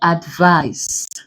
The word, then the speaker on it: advice: A noun like advice. If you check, we stress the first syllable, but then the first syllable is a prefix. So you can't stress a prefix, you have to stress vice.